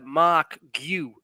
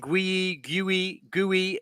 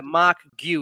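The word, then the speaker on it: Marc Guiu: get his pronunciation so everyone knows how to pronounce his name. It's Mark Gu. Gui or something. Yeah. So, people have been saying Gui Gui, but it's a Mark Gu.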